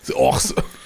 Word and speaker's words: horse: dit en anglais oui le R ne se prononce pas donc ça va faire hor Horse un chevau ass Horse